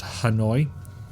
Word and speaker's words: Hanoi: of annoy but and yes I know it's pronounced Hanoi but I like mine better these thermite flares